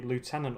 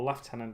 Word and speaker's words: lieutenant: And I built the Lieutenant or Lieutenant, depending on how you like to pronounce that word.